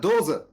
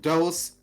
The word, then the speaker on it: Dose: It's Cola Dose. Yes, that's how you pronounce it. It's not dose, it's Dose.